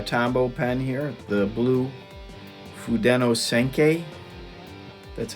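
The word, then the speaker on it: Fudenosuke: So to start off, I'm using a Tombow pen here, the blue Fudeno Senkei. That's how you pronounce it.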